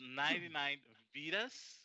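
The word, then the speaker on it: 99Vidas: to um is it 99 vadia's uh how do you pronounce this yeah yeah so it the name is 99 vedas because vita means life in portuguese you know so i'm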